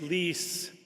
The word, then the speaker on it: Lee: It's Lee, but um many think it is otherwise.